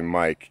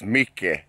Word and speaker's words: Micke: So Mike here, his name's not really Mike, it's Micke. Yeah. That's how you say it in Swedish.